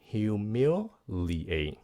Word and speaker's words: humiliate: Humiliate, các bạn phát âm nha. Humiliate, humiliate, 4 âm.